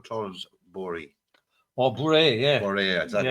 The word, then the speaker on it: Bourrée: Bourrée, exactly how you pronounce it.